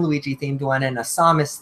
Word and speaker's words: Samus: I supposed to say say it for me Samus Samus I'm a Samus man let's all play up